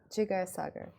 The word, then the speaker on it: Jigar Sagar: to share it with us stay tuned uh jigar cagar am I pronouncing that correctly that's why great because some people here um AKA English expats tend to mispronounce every single name it's Sager jiger Sager okay yeah see you got it okay cool